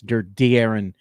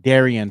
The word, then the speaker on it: De'Aaron: Everybody's saying you don't say Darren Fox. De'Aaron Fox, his name right. Yeah. I'm going to say his name, Darian Fox, until he can